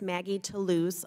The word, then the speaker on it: Maggie Toulouse: Member, it's Maggie Toulouse Oliver.